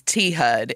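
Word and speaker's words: T-HUD: the slang forward is T HUD and it's spelled thud it's it's kind of you know one of those S words that sounds like like the sound it's imitating you know yeah it really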